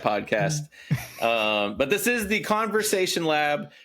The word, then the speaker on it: Conversation Lab: that we did where I kept saying it wrong. And the one that I thought was right, the first thing I said was conversion or was I can't even do it now. Was Conservation Lab.